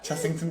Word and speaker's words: Chessington: It's a double S.